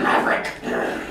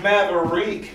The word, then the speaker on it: Maverick: Maverick. It's pronounced Maverick.